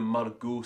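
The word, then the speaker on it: Margaux: silent letter that being the Maru spelling with the Au ux at the end I always love the aux making that sort of ooh sound and here's a great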